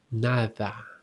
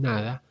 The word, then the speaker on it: nada: This is very interesting because the soft as in nada just pronounce it as if you are saying the th sound. Nada. The that that the another. This is always when the D goes after a vowel.